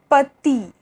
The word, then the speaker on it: petit: So I is pronounced like E, that is like coffee, okay, coffee. For example, Petit, Petit, that means small. Livre, livre, which means book. Assis, assis, which means seated, okay, to be sitting, seated, assis. And île, île, which means island, île, okay, that's the pronunciation of I.